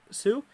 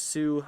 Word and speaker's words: Sioux: okay let's see oh is it sioux county is that how you call it sue yeah like i said thank you so much scott man like i said stewart's fault pronounced sue uh the extra sign okay